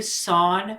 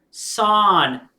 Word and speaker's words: Son: Do you know why I call you Son with the accent on the O? Son, not son. Son.